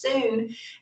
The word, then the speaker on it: Sun: called the singh style it's spelled s-u-n sun pronounced soon and it's actually done